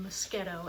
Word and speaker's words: Moschetto: spelling of my name it doesn't quite look the way it's pronounced it's an mosquito mo s CH e